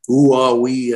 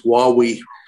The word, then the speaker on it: Huawei: And I had Chinese people working with me at Vodafone, so they taught me the correct pronunciation. It's not Huawei and all kinds of things. It's Huawei.